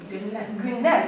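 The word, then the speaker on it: günler: Гюнлер. Мы уже знаем, что ю с двумя точками это у. Гюнлер.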